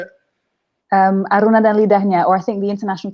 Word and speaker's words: Aruna dan Lidahnya: Aruna dan Lidahnya, or I think the international title is Aruna and Her Palette.